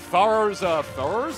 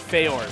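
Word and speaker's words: Farore: Farrors? How do you pronounce it? Farrors? It's Feors. Feors, thank you.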